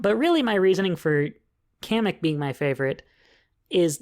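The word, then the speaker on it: Kamek: a playable racer now they pronounced his name as comic to me he's always been kamik so he's gonna be kamik sorry guys but I think Nintendo's wrong on this one he's gonna be kamik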